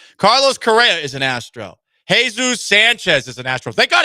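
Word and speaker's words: Jesús: Jesus Sanchez is an Astros. Thank Jesus. They did. Technically, it's pronounced Jesus.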